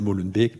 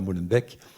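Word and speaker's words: Molenbeek: donne des cours à Molenbe parce qu'il faut prononcer Molenbec, pas Molenbec et et ça marche très bien à travers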